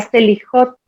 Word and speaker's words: Slijot: La Selihot. Sí. ¿Lo pronuncio bien o no?